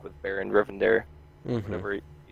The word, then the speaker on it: Rivendare: second death thr version with like with Baron rivendare whatever you say that Baron River dare you said it right yeah so honestly I